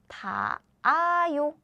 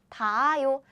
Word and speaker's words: 닿아요: Then Korean H sound is super weak. So we don't pronounce it. So the pronunciation is 닿아요. 닿아요.